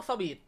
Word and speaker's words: suite: ห้อง Sweet นะ ครับ อ่าน ออก เสียง เหมือน คำ ว่า Sweet sw ww T นะ ครับ ที่ แปล ว่า หวาน ครับ โดย คำ นี้ ครับ มี ภาษา และ เสียง มา จาก ฝรั่งเศส ครับ ที่ ออก เสียง จริง ๆ ว่า สุ อีด นะ ครับ พอ ออก เสียง เร็ว ๆ ครับ ก็ จะ กลาย เป็น คำ ว่า Sweet นั่น เอง นะ ครับ ครับ อื ฉะนั้น ครับ เรา ควร จะ เรียก ว่า ห้อง สวีท ต่อ ไป นี้ นะ ครับ และ อยาก